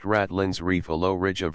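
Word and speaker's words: ratline: means of which Sailors May Mount the masts pronounced ratland Reef a low Ridge of rock usually just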